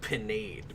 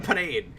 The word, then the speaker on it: Pinhead: there's a news anchor in the animated Tick named Pinade, but his last name is spelled Pinhead. All right. Nice. So I'm Pinade, and then the other the other news anchor in that show is Sally Vacuum.